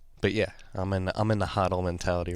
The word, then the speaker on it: HODL: I was pretty convinced, or I was beaten in the debate. It's HODL. I got to start pronouncing it correctly. How are you beaten in the debate? It's just consensus was agreed upon, and the consensus is it's HODL. It's not HODL.